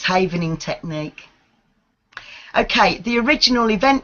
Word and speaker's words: Havening: learn about it and if I am i mispronouncing it what is Haven antenna cam I saying that correctly yes that's correct it's haven in technique ok the original event cave any method